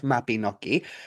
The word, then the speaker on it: Mabinogi: Uh, Almost. So it's Mabinogi. The Y Mabin. in Welsh, it makes like an noise, almost like you're kind of thinking about what you're about to say.